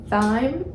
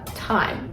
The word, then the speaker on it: thyme: you're going to need thy uh thyme I believe it's pronounced and sage and I